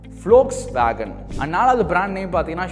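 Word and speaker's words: Volkswagen: அண்ட் மூணாவது பார்த்தீங்கன்னா holes வேகன். So again இது ஒரு கார் கம்பெனி பிராண்டு. ஸோ இந்தியாவில் வந்து நம்ம இதே மாதிரி தான் ப்ரொனவுன்ஸ் பண்ணுவோம். பட் வந்து ஜெர்மனில் அது எப்படி சொல்லுவாங்கன்னு பார்த்தீங்க அப்படின்னா ஃப்ளோக்ஸ் வேகன்.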